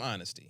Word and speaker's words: honesty: about the honesty team honesty the silent h give it all to